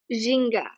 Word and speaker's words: ginga: Ginga. Yeah. Yay. Ginga is the movement.